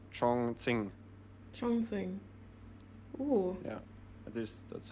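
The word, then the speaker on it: Chongqing: the chat pointed out the correct way to pronounce the the Chinese city where the match is moving. Chonging.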